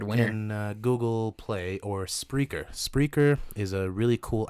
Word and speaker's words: Spreaker: puttin how it's spelled SP P as in Peter r e EI k ER spreaker like speaker with an arthur with an r kidding speaker spreaker pickles